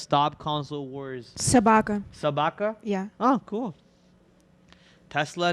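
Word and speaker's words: собака: Sabaka.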